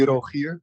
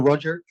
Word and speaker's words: Rogier: It's always fun about my name because it's actually Rogier, but that's hard to pronounce, I guess. So stick to Roger.